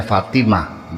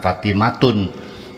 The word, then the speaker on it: Fatimah: Sekalipun itu ta marbutah tapi dalam menghitungnya dia ha karena bacanya Fatimah bukan Fatimatun kecuali orang Indonesia Fatimatun.